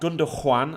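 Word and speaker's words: Gündoğan: team having said that gunda juan and that's how you pronounce it yeah don't forget should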